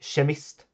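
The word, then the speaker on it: kemist: Anyways, uh K works in the same way except uh when this is put before a soft vowel, you get the sh sound like shemist, which means chemist uh ke m i s t.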